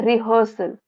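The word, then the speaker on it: rehearsal: रिहर्सल spelling देख लीजिए। एच ई ए आर आता है लेकिन बोलते हैं रिहर्सल प्रैक्टिस समथिंग ऑटोमेटिकली यह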